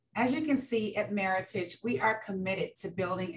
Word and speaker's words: Meritage: is commonly mispronounced as meritage the genesis of our name is the combination of merit and heritage which is meritage and our core purpose